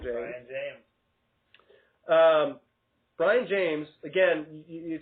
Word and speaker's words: Brion: In fact, his name is not even spelled in the conventional way that the name Brian would be spelled. It's spelled right. Brion. Brian James.